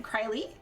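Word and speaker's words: Krile: Krylie? Kryl rhymes with now.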